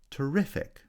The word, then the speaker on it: terrific: on the second syllable terrify has stress on the first syllable terrific stress on the second syllable ambiguous has secondary stress